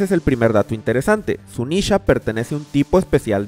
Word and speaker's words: Zunesha: El nombre Sunisha está escrito de la siguiente forma, en katakana en la parte superior tenemos la pronunciación que ya conocemos, Sunisha, pero en la parte inferior están unos kanjis,